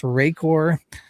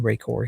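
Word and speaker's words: Rakor: I'm gonna spell it. It's R A K O R just in case you got any ideas, Bill. It's Rayor.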